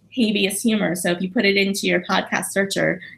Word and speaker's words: habeas: it wrong well yet I call it habeas humor because at least in America we say habeas where ism merkel speak English but it's Latin but apparently Benedict from